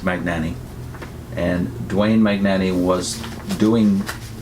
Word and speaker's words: Magnani: watchtower was Dewayne Magnani I suppose the Italian pronunciation would be many Annie but as far as I know it's pronounced Magnani and Dwayne Magnani was doing brochures and entire